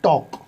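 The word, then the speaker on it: talk: L silent होता है अगर पहले ए है उसके बाद एल, तो एल साइलेंट है। जैसे टी ए एल के, अब इसमें ए है और एल है एक साथ, है ना, तो उस कंडीशन में एल साइलेंट है, एल की आवाज़ नहीं निकलेगी।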